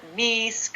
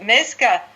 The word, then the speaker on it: Meeske: Because here in America, people call it Meeske, or, you know, God knows what. But Meeske, no one ever says that.